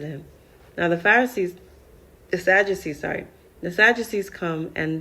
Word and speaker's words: Sadducees: Now, we're going to learn about the Sadducees.